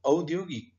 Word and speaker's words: औद्योगिक: अविश्रान्त, यसको बनोट कस्तो छ भनेर उच्चारण गर्नुहोस् भनेको औद्योगिक, औद्योगिक, औद्योगिक लेख्दाखेरि क पुरा अक्षर छ, तर बोल्दाखेरि औद्योगिक 3 अक्षर मात्रै हुन्छ।